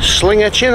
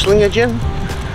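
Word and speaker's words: Sligachan: see an Old Bridge Slinger chin I think it's pronounced sling again uh there's a brewery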